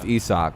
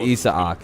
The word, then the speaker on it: Isaac: moment for uh myers his first name is spelled isaac but from a spanish standpoint you can pronounce it how'd i do it's just esoc a little low three